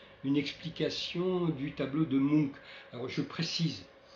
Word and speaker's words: Munch: explication du tableau de Munch. Alors, je précise, je le prononce Munch, c'est la prononciation scandinave, mais en France, on entend plus souvent Munch, qui est la prononciation française en fait de son nom.